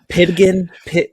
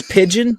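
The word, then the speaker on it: pidgin: and Grant you're wearing Pitkin pigeon Pig how do you say it pigeon pigeon it's pigeon okay all I have is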